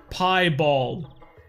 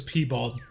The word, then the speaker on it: piebald: have let it more it's pronounced piebald is it pronounced pie bulb pie ball oh they do pie balled now i swear in the past it was p-bald i swear i didn't make this up i'm glad it's piebald though to be honest